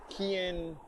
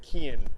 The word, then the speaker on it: Kian: played by kian talon i'm not even sure how to say his last our first name rather it's k-i-a-n so i'm gonna say keon from here on out but um his character